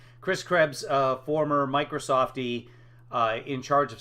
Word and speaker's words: Krebs: Chris Krebs, he's calling him Krabs, but just a pronunciation thing. Chris Krebs, former Microsoftie, in charge